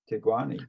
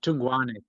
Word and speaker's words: Thungwane: How do you say it? Tungwane. Tungwane, Joshua Tungwane. Don't know if you. He basically that was his main. That was his best performance. But he won Olympic marathon. It must be spelt differently than it sounds then, because. Yeah, I think it's spelled Thungwane.